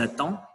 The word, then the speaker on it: attendent: Ils attendent, elles attendent. On ne prononce pas les terminaisons ENT.